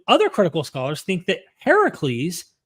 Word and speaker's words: Heracles: However, even other critical scholars think that Heracles, which is the Greek pronunciation, which means the older version of Hercules, influenced the biblical Samson story.